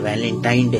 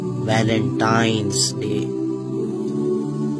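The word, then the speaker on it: Valentine's Day: नाम पर गौर करें इसे जो आम कहा जाता है यह वैलेंटाइन डे है लेकिन हकीकत में जो इसका प्रोनाउंस एशन है वह है वैलेंटाइंस डे य वैलेंटाइन वाला दिन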